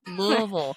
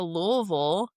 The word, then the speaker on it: Louisville: Louisville. I have a chart on the wall behind me of all the different pronunciations of Louisville. But if you're from here, you say Louisville.